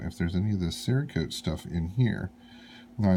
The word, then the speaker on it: Cerakote: watched another video this seracote and somebody told me that the proper pronunciation is serie code I think might have